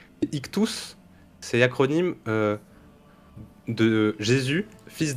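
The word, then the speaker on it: ΙΧΘΥΣ: pas le poisson c'est ça se prononce ictous en grec ancien ictous c'est acronyme de Jésus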